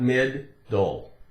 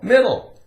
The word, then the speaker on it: middle: One D, not mid-dole. Not mid-dole. It's actually difficult to make it sound like it has the sound made twice, right?